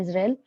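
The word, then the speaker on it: इज़राइल: अब है सब यूनिट इजराइल या इजराइल, इसको सही प्रोनाउंसिएशन है इजराइल।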